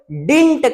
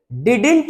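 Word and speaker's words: didn't: ये D silent है ये डी साइलेंट है इसको पढ़ते नहीं है तो डी आई एन टी डिंट डिडेंट मत पढ़ना डिडेंट मत पढ़ना डिंट पढ़ते हैं तो जहां भी डिड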